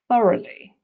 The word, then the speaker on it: thoroughly: but it's not pronounced the same way so thoroughly thoroughly this means completely or in detail so and pronounce like this thoroughly you can see that schah again in the